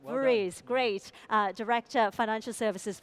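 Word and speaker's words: Voorhies: the pronunciation of it Roger is it VES that's right VES great uh director financial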